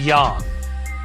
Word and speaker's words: yang: picture of yin and yang the latter rhymes with song and not saying this